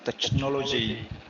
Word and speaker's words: technology: Uh technology. I'm sorry. Here in this case we pronounce c h like k. Technology.